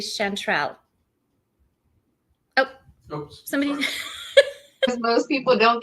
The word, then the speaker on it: Shantrell: here I want to ask though am I pronouncing your name correctly chantrell oh somebody most people don't get it righty